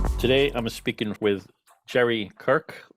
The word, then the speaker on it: Kyrk: I'm speaking with Jerry Kyrk. I believe your name is not pronounced "Kirk", but that's where we're going with.